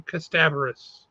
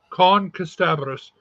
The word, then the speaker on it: Kasterborous: Or sorry, they get mad when you say it that way, even though that's how it's spelled. It's Kasterborous. Kasterborous.